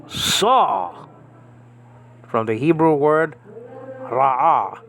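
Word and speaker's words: רָאָה: And then you have a Hey, which is silent. So Ra'ah.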